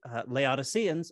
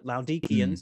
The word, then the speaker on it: Laodiceans: There's a strange reference in Colossians to a letter to the Laodiceans or the Laodiceans, if you want to give a more Greek accurate pronunciation.